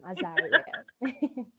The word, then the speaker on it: Azariel: Azariel, am I pronouncing that right? Yes, I said it correct the second time, Azariel.